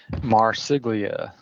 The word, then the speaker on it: Marsiglia: And, I'm going to apologize because I don't want to say your last name wrong. So please say it for me. Marsiglia.